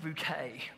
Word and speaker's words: Bucket: now but um hyacinth's bucket took snobbery to the next level famously preferring the french pronunciation of her name hyacinth bouquet she also tried to avoid